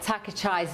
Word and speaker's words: Takaichi: Her name is Takaichi. It's Takaichi. It's not Takaichi, it's Takaichi. So you pronounce your name Takaichi.